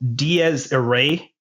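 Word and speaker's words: Dies irae: a musical number from the 13th century called Diaz aray it's spelled D i r a e d That's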